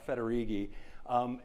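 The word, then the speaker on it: Federighi: your disk or something it's pronounced roughly like this uh federigi if you forget it you could say fettuccine when I was uh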